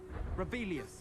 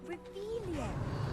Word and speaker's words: Revelio: Rebellious. Saying it wrong. Ugh, Revelio. Much better.